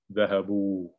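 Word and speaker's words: ذهبوا: the sound basically, and you have an aleph that's not pronounced. So both the wow and the aleph have, you could say, have a sukoon on them. Dhahabu, dhahabu, right? And so it won't change the sound.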